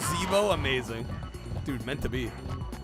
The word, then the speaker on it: Zeebo: It's pronounced Zeebo, amazing.